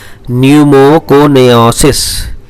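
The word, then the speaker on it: pneumoconiosis: यानी न्यूमोकोनाइसिस, पी तो साइलेंट रहता है, न्यूमोकोनियासिस।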